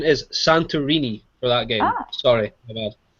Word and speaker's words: Santorini: Oh, the correct pronunciation is Santorini for that game.